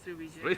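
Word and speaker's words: Sriwijaya: Srivijaya? Yes, Srivijaya.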